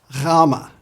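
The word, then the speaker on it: Γάμμα: Rama. Rama is similar to our English G, but with a softer sound.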